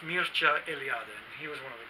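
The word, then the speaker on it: Mircea Eliade: is from Romania I'm not sure how you would pronounce his name in English maybe Mircea you know I ad or something I don't know but in Romanian it's pronounced Mucha alien he was one of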